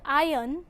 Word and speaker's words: iron: In the word iron, the letter R is silent.